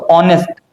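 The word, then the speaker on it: honest: अगर हम इसको हिंदी में उच्चारण करें तो ऑनेस्ट ऑनेस्ट ऑनेस्ट अ आ रहा है।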